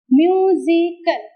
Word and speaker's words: musical: And what is the rule? Third syllable from the end. So, kal is one, C, S-I is the second, M-U is the third. So, stress falls on the first from word. Musical, first syllable on the word.